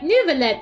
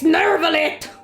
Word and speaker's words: Neuvillette: I forget that that's how they say his name. So the fortress Every time. is okay? Every time I'm like, Neuvillette, they're like, it's Neuvillette! And I go, ah! French!